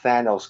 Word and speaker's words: Thanos: says Thanos like Jamal if you're listening it's Thanos god damn it Thanos then no stano's short a not long Thanos no that looks like the Greek god of